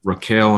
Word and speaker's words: Raquel: serious and you and Raquel, am I pronouncing your name correctly? That's right, Raquel, yes.